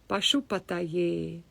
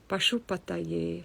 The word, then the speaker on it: Pashupataye: So Om, then Pashupataye. Pashupataye. Pashu. Sha is always strong. And then there's only a long A at the end. But A is always long.